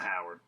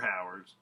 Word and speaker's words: Hauer: And he notices across the bar someone's eyeballing him, and it's none other than fucking Rutger Hauer, and or not Howard, Rutger Hauer. Correct pronunciation, Rutger Hauer.